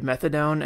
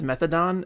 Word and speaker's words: methadone: I remember I had a teacher once pronounce the opioid methadone as methadone, and it drove me a bit mad.